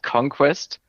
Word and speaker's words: Konkwest: this without a transcription, it is called Conquest, but it's not spelled like the English word conquest. Yeah, It is Konkwest, so very much like a phonetic spelling. You spell it like you say it, not like you would regularly spell it with the Q and the C.